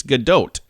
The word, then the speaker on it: Gadot: Israeli she's like no I'm not French it's Godot okay Chrissy Teigen uh she says it's tejan